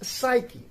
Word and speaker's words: psyche: we have that is psyche psyche is spelled as p s y c h e again mid position and the sound ch produces is k naught the next we